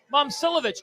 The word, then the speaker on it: Momcilovic: Pronunciation. Momcilovic.